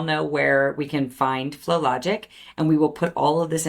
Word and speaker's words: FloLogic: Now, how can everybody find out more about FloLogic? Yeah, so our website is FloLogic, and FloLogic is spelled FLOLOGIC. There's not a W in there.